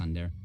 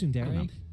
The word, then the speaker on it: tsundere: She's a tsundere. Yeah. Is that how you say it? I think it's tsundere. Tsundere? Yeah, it's sun Whatever. and then the word dere.